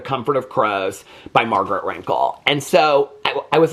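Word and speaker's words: Renkl: But I was talking about the book, The Comfort of Crows by Margaret Rinkle.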